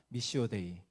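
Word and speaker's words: Missio Dei: 반드시 선교적인 교회가 돼야 된다고 말하고 있습니다 여러분 발음이 좋지 않지만 한번 따라해 보시겠습니까 미시오데이 예이 말이 굉장히 단순한 말같지만 너무 유명하고 중요한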